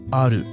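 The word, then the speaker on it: アール: So L is eru, and R is aru.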